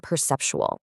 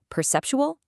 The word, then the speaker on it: perceptual: It's four syllables with the stress right on the second one.